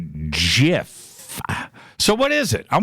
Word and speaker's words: GIF: I've always gone gif gif but leo says jiff so what is it I'm gonna see in